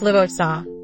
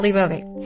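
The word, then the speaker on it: Leviosa: It's Liosa, not Leovi.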